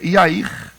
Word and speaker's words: Jair: época do desse juiz Jair na verdade a pronúncia serta é yair E aí na tradução